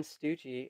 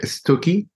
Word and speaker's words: Stucchi: the New Year Ann stoogie is that how I pronounce it yeah it's quite stooky like it's Italian yeah okay and then